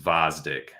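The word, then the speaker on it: Gvozdyk: That's a funny joke, but no, it's pretty sure the G is silent and it's just Vosdick. Gavozdik, Vosdick.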